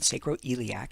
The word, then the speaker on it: sacroiliac: about this SI joint it's called sacroiliac is how you pronounce that and all right know